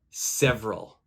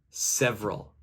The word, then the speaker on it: several: listen to my pronunciation several several which letter is silent okay if you guessed the second e the second e so